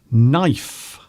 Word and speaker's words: knife: We have the letter K, which is silent K in knife.